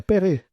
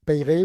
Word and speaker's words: Peyre: L'interview matinale toujours en compagnie de Vincent Vincent P je sais plus c'est Pay non c'est pas payé. On dit payer ouais.